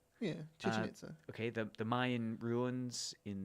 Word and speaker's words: Chichen Itza: But after that footage became public, this was at do you know how to pronounce it? Chichen Itza. Yeah, Chichen Itza.